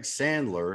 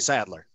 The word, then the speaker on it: Sadler: Okay, so let me remind everybody, this is Greg Sandler, if I'm pronouncing that correctly. Sandler, right? Sadler. Sadler. Okay, Sadler. Well, Sadler. you're a country boy, Saddle.